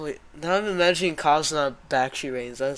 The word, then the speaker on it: Bakshi: Like it doesn't even have the Basky am I even saying it right? Bakshi. Bakshi.